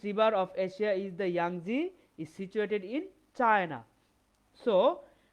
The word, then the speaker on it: Yangtze: The pronunciation of this word is Yangtze. I repeat, Yangtze.